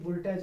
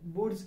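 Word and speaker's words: Wurtz: वुड्स अभिक्रिया तो एक चीज बता दें, इनका प्रोनाउंसिएशन ज्यादा ढंग से करना। फर्स्ट ईयर के बच्चे इसको पढ़ते हैं वुल्टज अभिक्रिया। दिस इज नॉट वुल्टज अभिक्रिया, इट इज कॉल्ड वुड्स अभिक्रिया।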